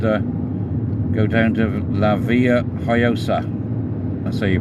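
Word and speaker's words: Villajoyosa: off here and uh go down to La Villa hayosa so you pronounce it and the first Beach we come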